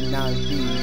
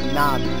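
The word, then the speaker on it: Navi: n'i n'i young Thou come hither yes this pronounced na'vi not n not Nava it not na'vi it's na'vi so oh now you left fa listen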